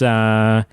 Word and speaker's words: Nosferatu: It's Nosferatu.